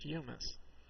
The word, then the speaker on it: humus: a comedy note here this word with one m is pronounced humus uh you know mess